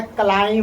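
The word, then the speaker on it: climb: जैसे एग्जांपल में देखिएगा। एम भी साथ में है कि नहीं है? इसको कितना लोग पढ़ता है? क्लाइम।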